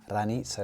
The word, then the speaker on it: Ranita: so why do I say ranit instead of ran because lanita is the apparently the proper way to pronounce it and it means morning